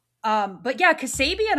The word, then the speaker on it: Kassabian: Um, but yeah, Cassabian I feel like is spelled how it sounds.